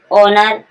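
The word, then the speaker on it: honour: else means कोई और thanks for this ऑनर नर य देखोगे साइलेंट है इस सम्मान के लिए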